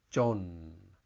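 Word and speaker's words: จน: in the 96 position the word is John there's no tone John has two meanings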